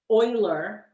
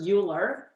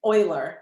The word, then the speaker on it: Euler: It's pronounced Euler, not Euler. Very common mistake. Everybody mispronounces this and calls the poor guy Euler. It's Euler, Leonard Euler.